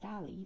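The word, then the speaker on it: DALL·E: created by open ai it is pronounced dolly like the artist but written like wall-e in the pixar movie it's that famous robot this version of dolly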